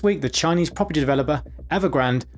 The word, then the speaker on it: Evergrande: This week, the Chinese property developer Evergrande, often mispronounced as if it's a Starbucks seasonal drink for Christmas, the Chinese Evergrande has officially defaulted on its dollar-denominated debt payments to bondholders.